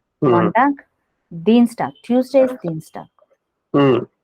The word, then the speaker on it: Montag: So here this word is ending with G. You have to pronounce as ka. Mm. Montag.